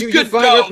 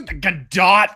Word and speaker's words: Gadot: I am morally opposed to how she pronounces her last name. It looks like yeah. It is good dough, god damn it.